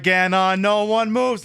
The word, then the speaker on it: Ganon: We got ways to make you pronounce it's Ganon. It's not Ganon like it's a candy or something. It's Ganon. Not Ganon.